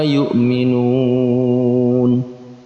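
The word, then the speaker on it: يؤمنون: Jatuhnya mad tabi'i berada di akhir ayat, maka masuk dalam kategori mad arid li sukun. Cara membacanya dipanjangkan dari 2 harokat sampai dengan 6 harokat. Kita boleh memilih 2 sampai 6 harokat.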